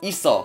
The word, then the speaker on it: 있어: by the song shield this word is pronounced Issa which sounds a lot like Issa now of course